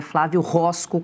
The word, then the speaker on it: Flávio Roscoe: Agora eu vou até corrigir a pronúncia do nome aí do candidato ao governo de Minas Gerais, é Flávio Roscoe, conforme ah, Flávio Bolsonaro aí comentou, disse nessa declaração no vídeo.